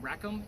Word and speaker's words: Rackham: same year 2020 and somebody heard rack of ham John Rackham is spelled rack ham so it's kind of